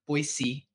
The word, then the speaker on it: Boise: And again, I'm just so happy for our Boise, not Z, Boise State fans out there.